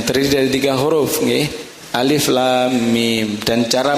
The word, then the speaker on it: Alif Lam Mim: tidak dinadakan itu membacanya jadi harus dibaca Alif Lam Mim ya lamnya panjang dan masuk ke dalam huruf mim karena Idam Mimi dan